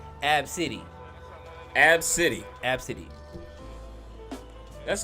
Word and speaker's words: ABCDE: because her name is spelled ABCDE now it's pronounced AB City AB City AB City that's an odd name